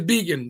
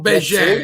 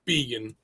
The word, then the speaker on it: Begin: The man himself, what is the correct pronunciation? It's Began. Yeah, well Bejan in Canada. If we were in St. George, Canada, they'd say Bejan, but it's Began.